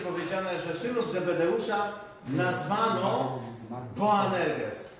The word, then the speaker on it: Boanerges: W Marka Ewangelii jest powiedziane, że synów Zebedeusza nazwano Boanerges. Tak naprawdę nazwano ich Boanerges, ponieważ w greckim języku litera B czyta się jak wy i to tak naprawdę byli Boanerges, czyli synowie gromu.